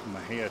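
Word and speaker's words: Mexia: Nicole Smith was from a little town called Maha not very many people know how to pronounce that it's actually spelled m x i a and it's pronounced uh Maha Texas and that's I I believe that's where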